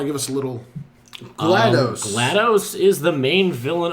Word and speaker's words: GLaDOS: give us a little GLaDOS GLaDOS is the main villain of Portal and is one clever Thought Glattis Glados That's why the the D is accentuated when you spell it out Yeah Yeah It's